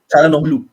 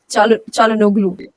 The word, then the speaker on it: Çalhanoğlu: नहीं, Çalhanoğlu. I don't. How do you pronounce that name? Çalhanoğlu. Çalhanoğlu.